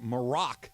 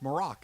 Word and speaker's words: Maroc: Golan's Shahibi says, hey, Trav, just an FYI, Morocco is abbreviated MAR because it's known as Maroc, M-A-R-O-C, in French.